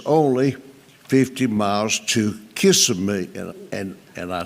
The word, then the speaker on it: Kissimmee: said, "Look, honey, it's only 50 miles to Kissimmee." And I said, "Honey, it's not pronounced Kiss, it's Kissimmee."